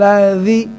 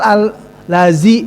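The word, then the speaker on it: الَّذِي: Aro'aital ladzi. Tadi ada dengar al-lazi. Nah, itu juga, nah itu udah fatal namanya. Hati-hati, jangan aro'aital lazi. Itu sudah fatal namanya.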